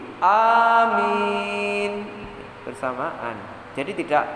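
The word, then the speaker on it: آمين: Kalau anak-anak kecil kadang-kala tidak amin tapi hamin. Ada itu. Ada lagi yang menggunakan lafaz pendek, amin. Ya. Yang betul apa? Ini menggunakan mat tabi'i, amin bersamaan. Jadi tidak amin atau dengan panjang amin, tapi cukup mat tabi'i.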